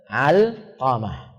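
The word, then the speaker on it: علقمة: Bacanya apa? Alqamah.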